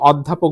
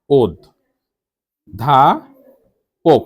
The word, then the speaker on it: অধ্যাপক: অ হয়ে গেছে ও আমরা তো অধ্যাপক বলি না ওদ ধা পোক খেয়াল করুন এখানে পক